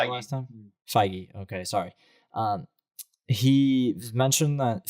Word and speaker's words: Feige: You said that's how Kevin you pronounced Feige. it last time. Feige.